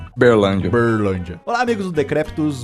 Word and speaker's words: Uberlândia: Ele que pois é para você conseguir pronunciar igual os locais. Ah, sim. Uberlândia.